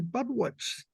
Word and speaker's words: Budewitz: been my pleasure to introduce many wonderful speakers, and it is great to be able to add among them Leslie Budewitz. I pronounce it right?